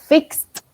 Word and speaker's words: fixed: And then we have fixed. Fixed. Fix. Sin pronunciar la T. Sin conjugarlo. Fix. Con T, fixed, ¿ok?